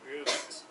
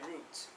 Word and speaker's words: route: A few months later, I returned with this friend to exactly the same route. Okay, what does this mean by route?